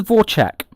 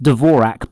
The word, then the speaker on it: Dvorak: says how it works it's called the vor check that's the that's the style of the game not dvorak by the way that's not how you pronounce it so should we start